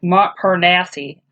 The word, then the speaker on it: Montparnasse: right mom Thomas I see I was like Montparnasse it's the material Paris clinical moss you say